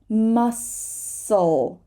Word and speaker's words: muscle: patterns by yourself so here we're not going to say the S muscle muscle I'm sorry we're not going to say the C sorry muscle dark dark right the